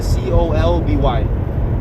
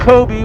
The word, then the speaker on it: Colby: that i can't say his name is c-o-l-b-y that's kobe kobe yeah i can't i don't know i felt like it's like kobe was an l colby yeah yeah um but